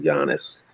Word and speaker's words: Giannis: He defers too much to Giannis.